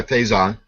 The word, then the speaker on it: Faison: Did I pronounce that correctly? Yeah, Faison.